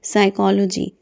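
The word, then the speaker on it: psychology: उसे हम कहते हैं साइकोलॉजी। देखिए यहां पर पी साइलेंट होता है। आपने ध्यान देना है इस बात पर कि पी साइलेंट है ये।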